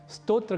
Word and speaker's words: स्तोत्र: ही अर्थों को जानेंगे उस समय स्तोत्र का उच्चारण श्रोत नहीं करेंगे और श्रोत का उच्चारण स्तोत्र या नहीं करेंगे इसी प्रकार एक और